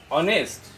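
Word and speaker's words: honest: ব্যৱহাৰ কৰা হয় যেনে অনেষ্ট আমি এইচ ওৰে আৰম্ভ হোৱা কিছুমান শব্দ আছে ইয়াত এইচ টো সাইলেন্ট থাকে এইচ টোৰ উচ্চাৰণ নহয় আৰু এইচ ৰ উচ্চাৰণ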